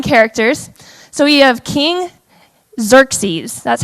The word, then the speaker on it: Xerxes: have some fun characters so we have king xerxes that's how you pronounce that i had to look it up like three times and listen xerxes cool um we have heyman who is the